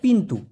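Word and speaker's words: pintu: দরজাকে Malaysian ভাষায় বলা হয় পিন্তু। পি আই এন টি ইউ। এই টি টাকে মালয়েশিয়ান ভাষায় সবসময় ত উচ্চারণ করা হয়। ট নাই। ট উচ্চারণ করা হয় না। এইজন্য পিন্তু হবে।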